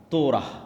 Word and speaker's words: তোরাহ: তোরাহ বলে ইহুদিরা উচ্চারণ করে যে তোরা যখন তাওরাত দেওয়া হলো